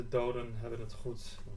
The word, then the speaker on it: Doden Hebben het Goed: I believe this is the Doden Hebben het Goed 1. And that's how you pronounce it.